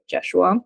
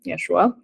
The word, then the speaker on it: Yeshua: Yeshua but it's like spelled with a J so jesua Yeshua um so this book